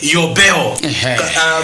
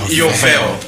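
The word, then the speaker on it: יובל: nkhosa ija, that's the muchiheberi akuti yobel, munati yobel, ena amati bel, koma amati yobel. Pronunciation yoyenera in Hebrew yovel.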